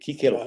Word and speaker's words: Cícero: leges legum de Cicerón o de Cícero, como se pronuncia correctamente, que decían que para que una norma pueda considerarse ley, debe ser general, abstracta, conocida, cierta, igual y justa.